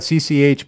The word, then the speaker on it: CCH: again, to the commentary, she claims that it's not CCH. It's actually just CC. And CC? And this H is silent.